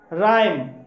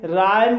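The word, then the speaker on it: rhyme: जैसे कि राइम, राइम शब्द आर एच से शुरू हुआ है इसलिए यहाँ पर एच साइलेंट है, इसलिए इसे राइम बोला जाएगा और राइम मीन्स होता है तुक।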